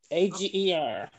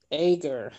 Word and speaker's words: Ager: A-G-E-R. Okay, pronounce it for me. Ager.